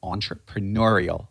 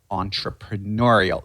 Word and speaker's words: entrepreneurial: I'll break down the pration for you Entre entrepreneurial entrepreneurial ATT to the stress Pat we probably know